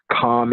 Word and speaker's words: calm: Calm in the middle. In the middle of a hurricane is calm. Calm, C-A-L-M. The L is silent.